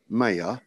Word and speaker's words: maya: all is illusion maya i don't know how you pronounce maya but m-a-y it's maya maya okay maya consciousness is